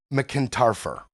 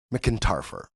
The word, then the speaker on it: McEntarfer: Erica McKinarfer? McIntarfer. That's how you pronounce it.